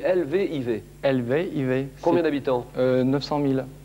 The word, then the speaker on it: Lviv: Lviv, Ça s'écrit L-V-I-V.